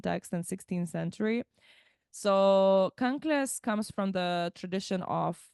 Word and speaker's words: kanklės: for those that might not know yes so conas I'll spell it k a n k l s conas